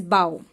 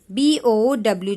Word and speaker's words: bow: a bow bow bow spelling is same okay spelling same pronunciation different meaning also different now fourth